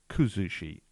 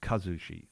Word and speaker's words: kuzushi: famous Gracie killer actually the word I was trying to say is kuzushi not Kazushi Sakuraba 's name is